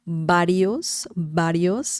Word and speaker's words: varios: But if you want to nail the pronunciation, then the sound is very similar to B as in bell, bell, bell. Varios means several, several.